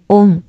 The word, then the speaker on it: ওম: অবশ্যই এটা লিখবেন, এই তিনটা, তারপর লিখবেন ওম, sorry, king being Meng ওম ওম, এটা উচ্চারণ হবে ওম।